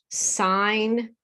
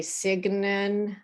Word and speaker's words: sign: Sign, we don't say signin. That's signal.